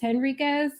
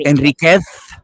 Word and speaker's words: Henriquez: So my family actually says Henriquez, my husband's family. So I'm just Henriquez. Sorry, I know it's supposed to be, however you pronounce the Polish one. And it's not Enriquez.